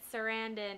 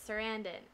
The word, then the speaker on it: Sarandon: and chris sarandon and i've been saying his last name wrong for so long i just pronounced his serendipity sarandan and anyway so i found chris sarandon and i had told